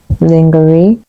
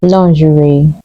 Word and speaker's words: lingerie: our next word is this often mispronounced as lingery the correct pronunciation is lery lingery here's an example she